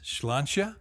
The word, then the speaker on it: sláinte: Sláinte is probably the most common pronunciation in Ireland, although you will hear sláinte. Can you hear the difference? Sláinte, sláinte. Yes, Yeah. just very slight. Very slight.